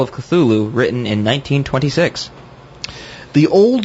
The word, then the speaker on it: Cthulhu: Of course, the pronunciation of Cthulhu or Cthulhu or whatever is really, it's spelled Cthulhu, but Lovecraft went to great pains in his somewhat jocular letters to say it was not meant to be pronounced by human vocal cords, because he was very